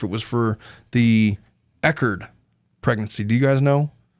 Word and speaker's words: Echard: so much for the $1.99 he says it's pronounced eard what have I been saying e hey what